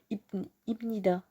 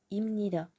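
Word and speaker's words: 합니다: pour fluidifier la liaison est ce que ça serait plus compliqué de dire hip hip nida donc on dit hymne ida voilà pour un exemple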